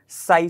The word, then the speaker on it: psi: और wave function को हम कैसे शो करते हैं, साई से, समझ गए बात। इसकी स्पेलिंग साई SI नहीं है, ये क्या है PSI है, ठीक है।